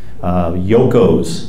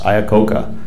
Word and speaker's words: Iacocca: Yoko's, the hot dog king. Yoko was how Pennsylvania Dutch people pronounced Iacocca. They couldn't pronounce it. It was too strange and foreign of a name.